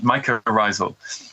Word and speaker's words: mycorrhizal: Okay, and then there's the last term that I think is really interesting is mycorrhizal. Am I pronouncing that right? That's right, mycorrhizal.